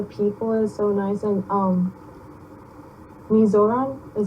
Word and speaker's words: Mizoram: Out of all the countries, I think India was like the best because like the people is so nice and Mizoram is how you say it?